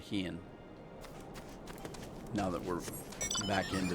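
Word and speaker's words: Hien: I'll call him Hine instead of Heian.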